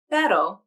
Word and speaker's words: pero: The R in pero is pronounced with the flap, a single flap of the tongue tip to the alveolar ridge.